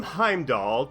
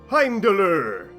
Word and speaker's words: Heimdallr: Now, the name Heimdoll technically isn't correct, as it's an angle-sized pronunciation of his Norse name, Heimdoller, which by the way is so much more fun to say.